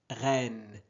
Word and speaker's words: reine: Ren, regardez ici, nous avons E suivi de deux consonnes. Donc on prononce et reine.